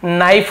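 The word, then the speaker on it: knife: ये नो हो गया नाइफ हो गया तो ये देखिए के एन आई एफ ई नाइफ के सेलेंट होता है नो नॉक नी सब में के साइलेंट होता है ऐसे ही आपका जैसे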